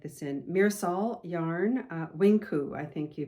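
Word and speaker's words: Winq: So um Mirisol Wing, is it Winku? I think you say pronounce it Winku. W I N Q U.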